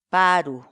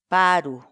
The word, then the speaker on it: paru: de videos en la que te enseñamos a pronunciar algunas palabras en quechua Así que nuestra palabra del día por hoy es paro paru paru la palabra quechua en español significa tostado dorado